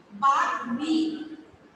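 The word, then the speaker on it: বাগ্মী: দেখো বাগ মি উচ্চারণটা হচ্ছে কয়টা বা গ অনস্বীকার মি, বাগ মি।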